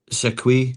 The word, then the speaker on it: Siquet: So Hugo Siquet, I'm told is how you pronounce it.